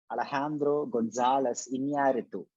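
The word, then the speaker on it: Alejandro González Iñárritu: Yeah, I'll pronounce his name, correct AhlehHAHNdro GonSAHles IhNYAReetoo. So that's how we have to pronounce his name. AhlehHAHNdro. AhlehHAHNdro GonSAHles IhNYAReetoo.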